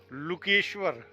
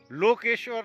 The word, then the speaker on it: लकेश्वर: का नाम जो है उस मंदिर का नाम लकेश्वर लोकेश्वर नहीं है लू छोटे उ की मात्रा है और छोटे ऊ की मात्रा होने की वजह से उच्चारण आता है लकेश्वर बड़ा मन में हुआ